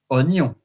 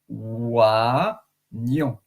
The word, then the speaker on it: Oignon: So onion, also interesting about the rules because normally if I have to pronounce it without knowing it, it will be oignon. Oignon. But this word is pronounced oignon. So you don't pronounce the I or the combination of O and I. Like, for instance, je bois un verre. B-O-I-S. Je bois un verre. I drink a glass. But here, oignon, the I is not pronounced.